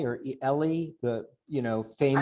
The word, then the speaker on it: Ely: remember, is it John Eli or Ellie, the famous. I always thought it was Ely, John Hart Ely, is how I John Hart Ely, learned to pronounce it.